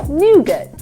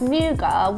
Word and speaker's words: nougat: Nougat. Nougat. I think the British say it like the French say it. Yeah. Nougat. But Americans kind of add that sort of T sound at the end.